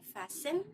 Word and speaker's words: fasten: No T is heard in fasten, hasten, which make them rhyme with arson, mason.